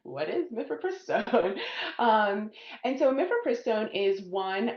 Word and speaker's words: mifepristone: So speaking of that can we discuss and please correct me if I mispronounce it mifepristone did I say that correctly?